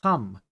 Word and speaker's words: thumb: I guess thumb but when you say thumb no you don't you don't pronounce b right there's no ban thumb Dum okay I I